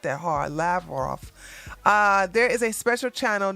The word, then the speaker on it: Lavrov: la roth said i didn't know how to pronounce his last name it's not that hard lavrov there is a special channel that has been